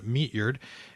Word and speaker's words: Meatyard: Eugene meard uh is spelled kind of like it sounds meatyard um and uh pronounced as far as I've ever known meatyard and uh meatyard was a fascinating photographer